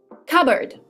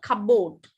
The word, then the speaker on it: cupboard: ah right we'll see cupboard cupboard it's cupboard cupboard it's not Cabot the p is silent so it's not cupboard